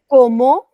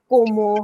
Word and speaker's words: comment: have in French is comment allez-vous? Comment allez-vous? Comment allez-vous? Oui. Now, don't process it much. Okay, Ki Muskan, this is written as comment. It's not como. How are you pronouncing it as como?